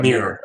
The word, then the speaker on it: Mir: And then there's Johan, which is that's what I call Johan him Mir. Yeah, Mir is how you pronounce it, yeah.